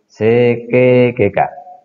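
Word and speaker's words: 整形外科: Sekegeka, ortopedi. Perhatikan, di sini tulisannya seikei, tetapi pengucapannya dalam bahasa Jepang kalau ada e dan i itu diucapkan e panjang, i-nya tidak dilafalkan. Sehingga pengucapannya sekegeka.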